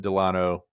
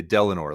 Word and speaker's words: Delano: So that's Franklin Delano Roosevelt. I always thought it was Delano. I used to always say Delano, like rhyming with Eleanor, but I realize it's Delano now.